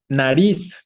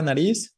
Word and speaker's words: nariz: que las puedan conocer nariz no no decimos nariz no decimos nariz la fuerza está en la última en la palabra nariz Es más bien aguda si fuera la palabra